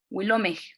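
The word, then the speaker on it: wilomeh: Tengan en cuenta la aspiración final y si pueden con sus micrófonos apagados pronuncien cuando yo después de que yo pronuncio Wilomej.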